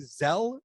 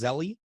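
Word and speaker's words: Zelle: using um i've been using zell lately or maybe it's pronounced zeli but it's z-e-l-l-e yeah and i think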